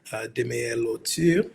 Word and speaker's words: Demeyer Lauture: My name is Demeyer Lauture, or better pronounced Demeyer Lauture.